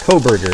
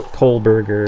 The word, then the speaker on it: Kohberger: Yeah, it's it's it's uh Coberger. Everybody always calls him Co Colberger or Coberger or whatever the hell it is.